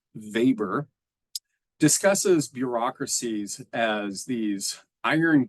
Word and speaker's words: Weber: by my main man Max vber So Max Weber as you might see it but it's pronounced vber discusses bureaucracies as these iron cages that end